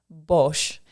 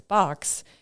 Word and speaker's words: Bosch: just confirming this student's last name is pronounced Bosch. And sometimes, you get like Bosch, but that's the general idea. And he was then kind of flabbergasted that the student corrected him and said, no, it's Box, because my assumption was